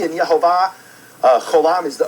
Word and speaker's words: Yehovah: it's not yve or Yahweh no it is yahovah all right so it's not either or you